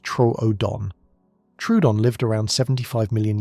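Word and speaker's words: Troodon: One example is the small but smart dinosaur Trudeon, pronounced Tro Odon.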